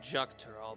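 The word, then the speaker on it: Xak Tural: shalomi shalomi Shalom every North America is called ju tural by the way okay it's spelled with an ax I expect no different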